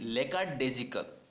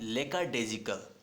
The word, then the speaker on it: lackadaisical: Spelling देखें आप, LACKADAISICAL, बहुत बार पूछी गई है एग्जाम्स में। इसको बोलते हैं लेकाडेजिकल। क्या बोलते हैं, लेकाडेजिकल। फिर से बोल रहा हूँ मैं, लेकाडेजिकल।